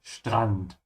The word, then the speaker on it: Strand: Hast du das große Ding gesehen, das da auf den Strand gekracht ist? Yeah, remember the S and T, when they come together like that, it becomes a sh. Strand.